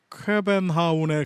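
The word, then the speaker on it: København: 뭐 그 정도는 알고 있지만 챗 GPT가 알려준 바로는 코펜하겐의 원어 발음이 쾌벤하운에 가깝다고, 네, 알려줬습니다.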